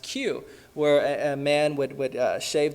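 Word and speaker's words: queue: I remember growing up seeing pictures of the Chinese, I think it's pronounced Q, where a man would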